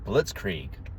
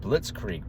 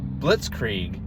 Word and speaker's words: blitzkrieg: And yet she can't even pronounce the word blitz creek properly.